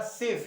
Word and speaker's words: chef: द सेफ, ये जो CHEF है, इसमें उच्चारण जो होता है ना, CH का तालब शो करते हैं, तो द सेफ होता है, ये सेफ होता है, उसको सेफ कहते हैं।